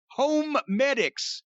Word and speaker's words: Homedics: and by the way that's home medics even though it's spelled h o m e d i c s when i first heard